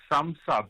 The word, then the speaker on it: Sumsub: Is it SumSub? Sounds like SumSub. Hey? SumSub.